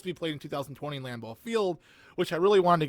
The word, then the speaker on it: Lambeau Field: field there we go lambeau field there we go i know i sounded like it came off different from my tongue so then going back